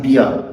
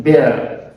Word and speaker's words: bird: Il y a des gens qui disent beer. Non, ça c'est bird.